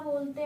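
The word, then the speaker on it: ballet: बेले T silent है।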